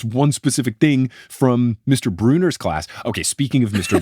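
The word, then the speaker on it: Brunner: know the real Mr Bruner or like it's a friend of their moms or something like that that person spells it B Ru n n r but pronounces it Bruner I think this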